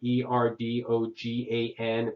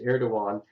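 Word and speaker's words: Erdoğan: The Prime Minister of Turkey, a man named Erdogan, that's the one, I put it as a key word, Erdogan, but it's pronounced Erdogan.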